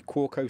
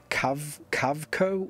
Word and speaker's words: Kaweco: So I'm guessing it's Kaweco or Kaweco, as the W is probably a V sound. But anyway, you know, splitting hairs on the pronunciation, the anglicized version of how you would say this would be Kaweco.